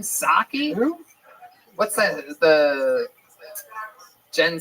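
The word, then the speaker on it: Psaki: Saki. Who? What's that? The Jen Saki. Is that how you say it? You don't say the P at all.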